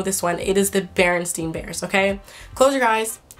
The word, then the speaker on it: Berenstain: It's the Berenstain Bears. Like stain, like stain, the last part, S-T-A-I-N.